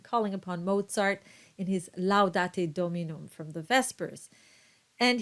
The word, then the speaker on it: laudate: So you have two clear ah sounds and with a little diphthong, laudate.